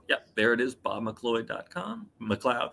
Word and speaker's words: McLeod: McLeod, rather. I don't know why I just said it wrong. I've been saying it right the whole night.